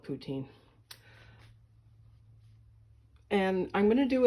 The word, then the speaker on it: poutine: Well, today I'm going to make myself poutine, or Putin, or however you want to pronounce it. I call it poutine.